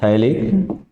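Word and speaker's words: phthalic: पी PH silent रहेगा। थैलिक anhydride.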